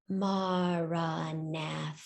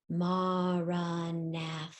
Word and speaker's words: Maranatha: means come Lord Jesus I'd like you to say it in four syllables as you breathe in breathe in and as you breathe out Marana so that your meditation